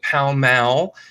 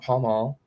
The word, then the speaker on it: Pall Mall: We pronounce it Pall Mall, not Pall Mall, but I grew up there.